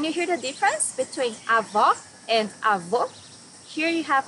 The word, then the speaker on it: avó: Here you need to hear the sound of the last O in the syllable. It should be an open O, as we say in Portuguese. Avó.